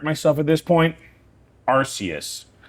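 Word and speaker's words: Arceus: Arus, not Archus. I think I get a lot. That's the thing. I I don't know all of them either. A lot of my pronunciations just come from me Googling things. No, that's fine. Bulipedia, but I'm pretty sure Arus is the correct pronunciation, but I've only ever read it, so I always pronounce it Archus.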